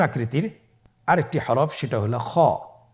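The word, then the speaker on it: خ: খ হরফটির মাখরাজ হলো কণ্ঠনালীর শেষ ভাগ হতে উচ্চারণ করতে হয়, কণ্ঠনালীর শেষ ভাগ।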